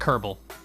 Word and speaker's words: Kerbal: full of that appear that the aft it's pronounced herbal the debasing curb all if you've been doing